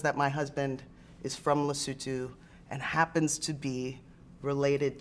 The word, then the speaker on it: Lesotho: just make sure i can say it right lesotho yes that's exactly it lucille yeah because most